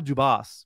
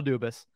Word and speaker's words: Dubas: from Fenway Sports Group I was getting worried that I was pronouncing that wrong for the past seven years but as far as we know it's Kyle dubis with all the moves